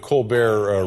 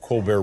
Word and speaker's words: Colbert: are things on The Colbert Report we're still calling it the Colbert Report or yeah we have not found the pronunciation of that T yet we don't know where